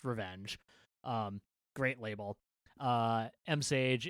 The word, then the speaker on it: RVNG: That's RVNG International, which I did not know until like earlier this year is pronounced Revenge.